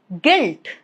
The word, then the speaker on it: guilt: For example, guess, guide, guilt, all of these three. As you can see, letter U is right after letter G. So U is not pronounced. G is going to take care of it.